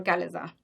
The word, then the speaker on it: chalaza: what is called as chalaza or chalaza. You know, I'm saying or pronouncing both the terms because people use both chalaza as well as chalaza.